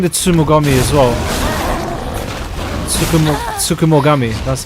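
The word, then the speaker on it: Tsukumogami: Sukum Sukumoami, that's how you say it.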